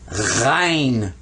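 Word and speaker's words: غين: back of your throat there's a similar one just the same way only it'll have a dot over it and that's rein now the way i usually tell people to remember these is if you were down south in the southern part of the united states and your mother told you to do something you said i ain't gonna do it i ain't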